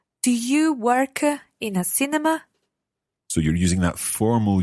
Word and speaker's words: cinema: You need one more syllable. Cinema. Cinema.